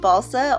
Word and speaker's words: balsa: wood that I'm using I think it's pronounced balsa only because it's spelled like salsa honestly I don't really know